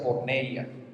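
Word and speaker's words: πορνεία: esto viene un griego una palabra griega que se pronuncia porneia de la misma de la cual viene pornografía y lo que aplica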